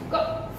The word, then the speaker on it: cough: In some words, GH is pronounced as F.